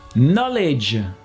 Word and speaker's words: knowledge: allez on commence avec le cas qui s'efface toujours devant à ncc super fréquents comme cas on voit ça